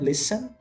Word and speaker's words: listen: Lembra que ele não é um listen, não tem esse T aí, a gente substitui por dois S's, né? Listen.